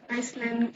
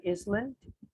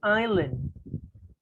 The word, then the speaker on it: island: And then this not actually tadi mispronounced, bukan Iceland or Iceland. It's supposed to be island. Island ya. We don't mention the S gitu.